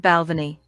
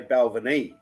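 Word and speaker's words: Balvenie: just said glenn fittick dj cue ball just said balvany not bad hey got it right because most people say bell vernee bonner harbin she's good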